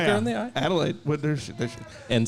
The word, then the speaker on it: Adelaide: I need you to say it properly. It is Adelaide. Oh, Adelaide.